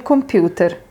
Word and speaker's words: computer: And as I said earlier, it's always worth doing the accent in the Italian way because that's how they pronounce it, even if it feels a little bit silly.